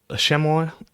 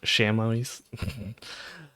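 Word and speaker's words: chamois: the shammo uh is I believe how it's pronounced um or shamois uh if you're not French um is a goat species native to the Alps.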